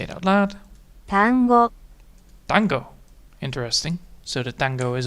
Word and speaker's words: 単語: 単語 Tango. Interesting. So the tango is a word. And I can actually get that back. 単語単語単語 Tango. Tango. Tango. So it's very quick. Alright, so it's a very quick pronunciation.